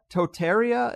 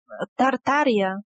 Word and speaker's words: Tartaria: from history entirely is one called Totaria, if I'm pronouncing it right, that is somewhere in modern Russia? Tartaria.